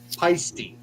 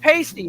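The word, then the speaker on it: Paiste: How do you pronounce the name of the cymbal company that you endorse? Peisty. Not pasty, it's Peisty.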